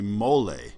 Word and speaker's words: mole: okay mole can actually if you pronounce it in Spanish is actually mole and that's a Mexican